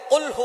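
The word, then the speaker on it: قُلْ هُوَ: আল্লাহ পাক রাব্বুল আলামীন এখানে বলছেন কুলহু আল্লাহু আহাদ। এখানে কফ দিয়ে পড়ছেন কিন্তু অনেকেই ভুল করে উচ্চারণ সঠিক না হওয়ার কারণে তারা পড়ে কাফ।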